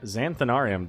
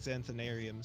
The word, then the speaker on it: Xanthanarium: That's the third A long, so you're already doing better than most of the people I've met. Wait, say that again? Didn't pronounce the third A long like Xanthanarium, so you're already much all better right than most.